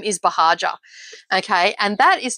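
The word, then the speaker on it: Buhagiar: online but my last name is bahaja okay and that is not an easy when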